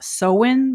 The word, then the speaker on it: Samhain: So Halloween with its costumes and pumpkins comes from a very ancient pagan festival called sain. And apparently it's supposed to be pronounced sewen, but I'm just used to call it sain.